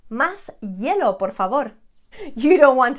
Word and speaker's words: hielo: Again, remember that the H is not there. It is there, but it's not there. We never pronounce the H. Café con hielo.